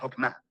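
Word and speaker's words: חכמה: En hebreo se pronuncia Hokmah y usualmente se traduce al español como sabiduría. Es un atributo de Dios que Dios usó para crear al mundo y Hokmah ha sido entretejida en la tela de las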